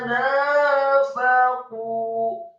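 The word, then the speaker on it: نَافَقُوا: Alam tara ilal ladzina nafaqu. Kata nafaqu, nunnya fathah dua harokat, kemudian fa-nya fathah satu harokat, kemudian qafnya marfu atau dhamma dua harokat karena setelahnya ada wawu sukun.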